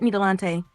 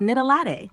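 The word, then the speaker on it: Knitalatte: Got it, Nidalante. So it's pronounced Nidalate, like the drink.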